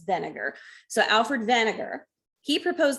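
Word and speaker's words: Wegener: where this guy alfred vinegar now this dude is german or austrian i can't remember but in this case that w gets pronounced like a v so it's vinegar so alfred vinegar he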